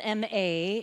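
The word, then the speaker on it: 間: the practice of ma it's spelled m-a in our English alphabet however it's pronounced m-a-a-h Ma and it is the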